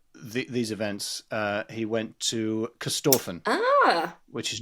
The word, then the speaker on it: Corstorphine: Corstorphine, It is spelled Corstorphine. Yes. No, Corstorphine, you nailed it.